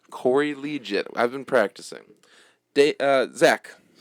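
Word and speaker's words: Liuget: signed a defensive lineman former first-round pick Corey Lee Jay you said it right Corey legit I've been practicing day Zach what do you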